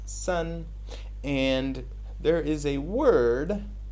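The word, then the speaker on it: 森: full of trees and that is pronounced son and there is a word which you take these two characters this characters is pronounced son as we said and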